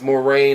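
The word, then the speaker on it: Moraine: that comes in to I think it's pronounced more rain Ohio more rain Ohio this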